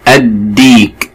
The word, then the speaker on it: الديك: حرف الدال من حروف اللام الشمسية، فاللام لا تنطق. الديك، الديك، وفيها كمان مد بالياء، فيها مد بياء بالياء.